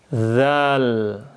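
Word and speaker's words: ذال: Ujung lidah tempelkan ke gigi seri atas. Dza. Dengarkan suara saya. Ikuti zal. Dzal.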